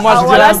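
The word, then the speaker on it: Oualas: Avant de passer à Wallace, je voudrais saluer je le kiffe.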